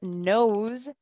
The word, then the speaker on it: nose: And in this situation, the word nose has a Z sound at the end, nose.